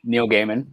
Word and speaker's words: Neil Gaiman: standing beside them so yeah right so okay neil gaiman which that is how you pronounce it by the way i watched a